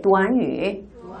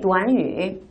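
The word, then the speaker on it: 短语: 근데 이 구가 한국어로는 구지만 중국어로는 구가 아니라 도안유라고 읽힙니다. 다 함께 도안유. 한 번 더 도안유.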